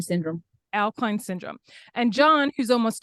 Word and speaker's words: Au-Kline: And how do you pronounce that? Au-Kline Syndrome. Au-Kline Syndrome.